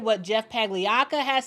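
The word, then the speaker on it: Pagliocca: And Jeff Pagliacca, that is how you say his last name, Jeff Pagliacca.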